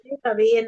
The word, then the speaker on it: صابئين: terus Rasanya di sini enggak ada, entah kok wasabiin itu apa Bu Eli? kalau artinya sih Sobiin Oh. Sobiin aja. Oh, sobiin aja ya. Bacanya Oh, sobiin.